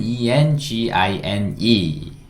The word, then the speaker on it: engine: E로 그리고 마지막에 있는 E는 묵음이에요. 묵음. 어떤 영어 단어가 E로 끝나면 E는 소리 안 난다 그랬거든요. 묵음이라고 그랬거든요. 그러니까 engine, engine.